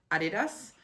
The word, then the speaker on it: Adidas: far as I've understood as this is a German brand you say it Adidas and in Finnish I would call it Adidas but for some reason